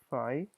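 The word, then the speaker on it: φ: of rational numbers, and this is called phi, pronounced as phi, which is the empty set.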